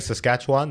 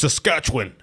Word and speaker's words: Saskatchewan: saskat first of all I kept saying saskatchwan they're like I know you're not from here cuz you keep saying it like that it's saskatch win like after the CH it's one syllable what I never even